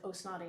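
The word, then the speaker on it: Ó Snodaigh: in your head his his name is spelled quite it's one of the great you know irish many many syllables and consonants and it just sounds like oh snotty when you say it but um ronan osnotti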